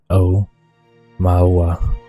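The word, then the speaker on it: Aumaua: armor no quebe Ohama it's pronounced o mawa one of the world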